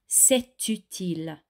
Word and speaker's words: c'est utile: Ordinarily, this would be a silent T, but because it is followed by the U of utile, it is actually pronounced. So this sentence goes car c'est utile, and it might just